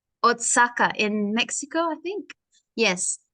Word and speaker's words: Oaxaca: It says in the caption, street food in, now this I don't know how to pronounce, Oaxaca in Mexico, I think.